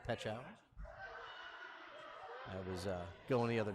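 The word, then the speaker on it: Pechauer: And George had informed me on the proper pronunciation of J. Petchower. I was going the other direction, going with the Peach Hour.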